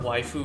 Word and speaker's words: waifu: Wiebe stuff the word wife who is just the Japanese pronunciation of the English word wife and the meaning can